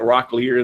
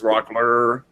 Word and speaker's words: Rockler: So, and then they're always catching me on stuff like I call it Rocklear, and they say it's Rockler. So we're always going round about.